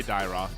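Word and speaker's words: Dyrroth: Now I'm gonna be surprised if that is how do you pronounce that actually? Dyroth? I say Dyroth. Yeah. Dyroth, okay.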